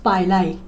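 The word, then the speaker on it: pili: এই দেখো ফিমব্রির চেয়ে বড় যেটা, সেটাকে আমরা বলছি সেক্স পাইলাই বা সেক্স পিলি। উচ্চারণ দুইভাবে করতে পারো, পিলি অথবা পাইলাই, যেভাবে বলো।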